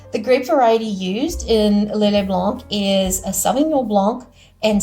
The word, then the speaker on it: Lillet Blanc: It's Lillet Blanc, as it's pronounced.